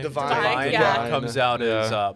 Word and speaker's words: Devine: Divine.